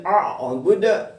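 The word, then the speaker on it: أعبد: Kembali antum dibaca samar-samar, kemudian a'budu dipantulkan karena dia adalah qalqalah kubra.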